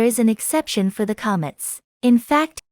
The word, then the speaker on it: קָמַץ: an exception for the Comets in fact in some rare cases it is pronounced o in this case we